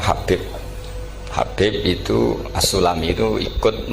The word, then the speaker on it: Habib: Yang benar, oh enggak, yang benar itu bacanya Habib.